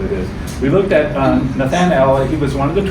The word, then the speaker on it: Nathanael: So we also looked at the idea, we studied Philip's witness to Nathanael, that's how you pronounce it.